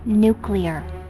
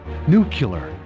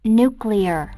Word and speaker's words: nuclear: nuclear yeah I know new killer you did it again it's pronounced nuclear that's just what I said new killer yeah honey listen to me its nuclear you're adding a you in there look I've got four